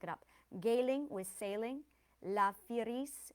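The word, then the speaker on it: La Fireez: La firis with desire ease.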